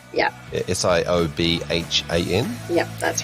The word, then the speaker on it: Siobhan: But Siobhan is spelt the traditional Irish way. Yes, that's right. Yeah. Siobhan.